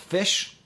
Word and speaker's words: ghoti: That's spelled Ghoti. It's an old joke about how English is pronounced strangely. So that GH is the F sound in enough. The O sound is the I sound in women. And the TI sound is the sh sound in nation.